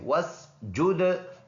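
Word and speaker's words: وَاسْجُدْ: तो हु, और ये है वा और सीन को मिलाएंगे, बीच में अलिफ साइलेंट है। वस्जुद, दाल में कलकला करेंगे।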